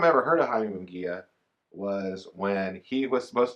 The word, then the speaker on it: Munguia: I know how to say his name now. Okay, I said Munguia the other day, I think. It's Jaime Munguia.